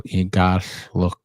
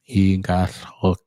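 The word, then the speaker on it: iqalluk: And so the double L is pronounced with the tongue on the roof of your mouth, and then let air escape both sides, and it has almost like a hissing sound.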